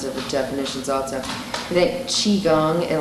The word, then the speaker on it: Qigong: I think Qigong, and like the Gong is the same as like Kung Fu is hard work. It's that Gong is the same, it's just it's different dialectical pronunciation.